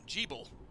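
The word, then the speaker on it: Gebel: stop to all this so that's how you pronounce his name G bull I would have said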